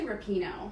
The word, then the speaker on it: Rapinoe: But since I've discovered Megan, it's actually Rapinoe.